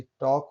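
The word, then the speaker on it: talk: Rule number 3 देखते हैं, कुछ शब्दों में के से पहले एल आता है तो एल साइलेंट होता है। देखिए के पहले एल आया है। योग, अंडे का पीला भाग या जर्दी। टॉक वही है, के पहले लाया है।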